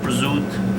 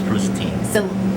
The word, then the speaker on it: prosciutto: It's not like prosciutto.